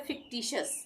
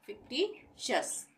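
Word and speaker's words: fictitious: उसके बाद फिक्टिशियस, ये है फिक्टिशियस, यहाँ पे टी के बाद आई ओ आ रहा है यहाँ पे भी, तो इसको भी हम श का उच्चारण देंगे, यानी फिक्टिशियस। यहाँ पे टी का उच्चारण ट ही आ रहा है, फिक्टी, और टी के बाद आई ओ आ गया तो इसका उच्चारण बदल गया, श हो गया, फिक्टिशियस।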